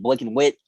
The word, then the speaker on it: BLKNWHTE: If you ask me, that's pronounced Blick and Wit.